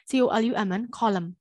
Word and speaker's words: column: n အတန်မပါအောင်เนาะ silent အဲ့တော့ autumn အနောက်ကပါးစပ်ပိတ်ပြီးတော့ဆုံးမယ် autumn မဟုတ်เนาะ column autumn column ပါဇက်ပိတ်ပြီးတော့ဆုံးတယ်။ပါဇက်ဖွင့်တဲ့ and နဲ့ဆုံးမယ်မယ်။အတန်တွက်ဒီပါဇက်ပိတ်ပြီးတော့အတန်တွက်ကိုဆုံးအဆုံးသတ်ပေးရတယ်။နောက်တစ်ခုကဒီမှာ h အတန် silent e x h i b i t i o n exhibition, exhibition, exhibition, exhibition.